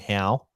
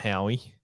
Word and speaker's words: Howe: Liam Howie, big dick play, and I think it's pronounced Liam Howe, not Howie.